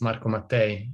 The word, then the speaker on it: Marco Mattei: doing great and you you did it perfect it's marco mate welcome marco there we